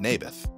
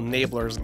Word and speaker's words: Naboth: I like this little Nablers guy. You mean Naboth? Yeah, that's what I said. Maberf. I think you're saying it wrong. His name was Naboth.